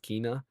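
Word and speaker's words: Kena: You know, I always used to say Kenna, but I guess it's pronounced Kina.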